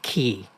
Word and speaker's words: Ke: just your first name everybody calls me key and sometimes they'll say sometimes they'll say but as long as you say my name I'm happy okay but I